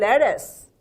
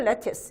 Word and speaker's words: lettuce: 원래 이 레티스가요 영어로 발음될 때 미국식 영어에서는 lettuce 트가 연음화 되거든요. 미국식 영어는 영국인들은 lettuce 이렇게 발음하죠.